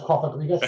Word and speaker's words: Cofagrigus: So I've gone for Pokedex number 563, the Coffin Pokemon, which is Cofagrigus. Is that how it's pronounced? Yes, well done. Cofagrigus, yeah.